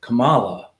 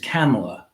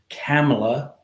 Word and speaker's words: Kamala: I'm guilty of this too uh I was pronouncing her name Cala which is I what I thought people were